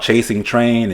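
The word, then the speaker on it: Chasing Trane: It's called Chasing Train, and train is spelled Trane.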